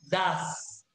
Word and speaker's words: does: Pero con he, she, it voy a escribir das. Se escribe doe, pero se pronuncia das.